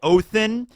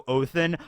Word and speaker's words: Odin: so I say it oathin for a couple of reasons number one I think in Old Norse that is the proper way to pronounce Odin so oathin but the other reason